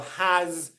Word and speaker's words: has: as in is or has, not the S sound, the Z sound, which is often spelt as an S in English. For example, is, as, was, has. All of these very common words are pronounced with a Z sound, even though they're written with an S sound.